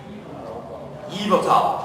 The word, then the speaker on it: Yveltal: Am I pronouncing that right? Yveltal, okay.